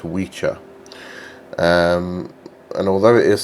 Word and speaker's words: wicca: c is pronounced as a cho so it's witcher um and although it is spelled the same w i c a um